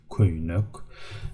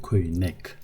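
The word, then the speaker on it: köýnek: Köynük, bu, this, köynük. Pay attention how I read it. I don't say köynek, I say köynük. Again, because of this round vowel, we read the subsequent syllables rounded.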